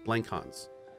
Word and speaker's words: Blankhans: I'm wrong here Corbin blancons am I saying that right I think it's blank Hans yep and if I totally butchered that I severely apologize oh I did say that right okay great great but